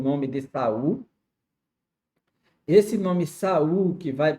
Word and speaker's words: Saul: O seu nome inicialmente, que vamos conhecer no Novo Testamento, é Saulo. Saulo já é uma forma grega de pronunciar Saul, Shaul, Shaul, que é Saulo, Saulo, né?